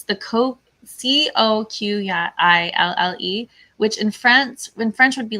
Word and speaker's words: Coquille: Does anybody know how the name of this town is pronounced? It's the Coquille, which in French would be like coquille, but I assume it's like anglicized and maybe it's like coquille or coquille.